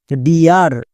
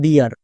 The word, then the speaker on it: dear: যেমন দেখো ডিয়ার, এই শব্দটার সঠিক উচ্চারণ হবে ডিয়ার, বাট অনেকেই উচ্চারণ করছো ডেয়ার, তাই ভুল হচ্ছে।